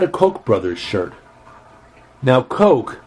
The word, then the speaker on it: Koch: Koch brothers shirt now Coke is pronounced like the drink but it's spelled like